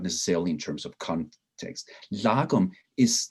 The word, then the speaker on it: lagom: the difference between hygge and the swedish word l-a-g-o-m uh how do you pronounce that lagom lagoon right a lagum is